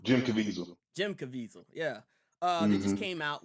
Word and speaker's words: Caviezel: Caviezel? Jim Caviezel. Jim Caviezel, yeah.